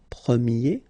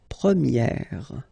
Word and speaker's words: première: change quite much, because if you think about the masculine form, you pronounce it premier, okay? Premier. And then for the feminine form, you will get première. Okay, so it's open, this e sound.